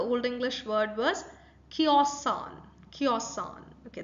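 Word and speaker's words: cēosan: Okay, the primary stress is on k, right? Kiosan. All right. So the san, that's sa, it's not exactly the sa sound that you, it's kiosan. Okay, it's z sound that you might hear.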